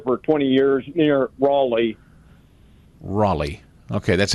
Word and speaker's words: Raleigh: I've lived here for 20 years near Raleigh Raleigh okay that's how they say it there Raleigh